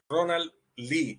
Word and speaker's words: Ronald Lee: Ronald Lee es la verdadera pronunciación de su nombre.